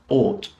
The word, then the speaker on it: ought: So the sound here of the OUGH is pronounced or. So bought, ought.